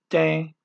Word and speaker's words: tem: Okay, here's a case where that E with that little hat over it is like a long A in cake.